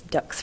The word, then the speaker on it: Dux: Pretty close. All right, I'm sorry about that. No, you're fine. All right. It's Dux rhymes with books, which is actually my topic tonight.